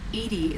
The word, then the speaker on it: EDI: Edie is the phonetic. Why are you named Edie? Edie is the phonetic pronunciation.